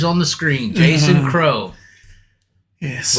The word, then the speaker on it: Crowe: Jason Crowe. Yes. With an E. The E is silent. It is, yes. I hope it definitely Crowe. Is. We're not saying Crowe. We're definitely not saying We're not French.